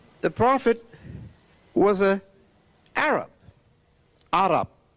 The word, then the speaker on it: Arab: Arab, that's how they pronounce it. Arab is English pronunciation.